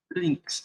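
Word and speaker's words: lynx: você faz um APT instal links é assim que se escreve L ynx se eu não me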